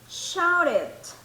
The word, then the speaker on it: shouted: Then shouted, shouted. ¿Se acuerdan de esta pronunciación del ed, verdad? Cuando era con T, es el id.